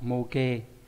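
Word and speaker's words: 模型: Mô hình nó sẽ đọc là mô đúng không? Mô kê.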